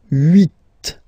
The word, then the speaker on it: huit: Okay, then here final T is pronounced, so huit, huit. Remember in French this H letter here, okay, doesn't exist phonetically, so we don't really pronounce it, okay, so if you